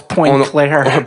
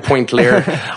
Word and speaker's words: Pointe-Claire: Mais c'est prononce Pointe-Claire. Pointe-Claire.